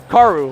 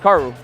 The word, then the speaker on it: Karu: I guess it's Karu, like Raru. They said it rhymes like Raru. So thanks, chat. So it's Karu, not Karu, I guess.